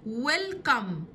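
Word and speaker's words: welcome: لما اجي ارحب بحد وبقول له ويلكم، السي بنطقها بصوت حرف الكي، ويلكم ويلكم، مرحبا.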